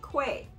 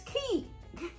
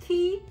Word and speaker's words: Quay: q-u-a-y I've been pronouncing Quay it's not Quay it's key this is an Australian